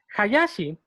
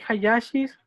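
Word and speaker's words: 林: aquí en México hay Hayashis que lo pronuncian como Hayashi. Porque pues aquí en México la H no suena, pero en japonés sí.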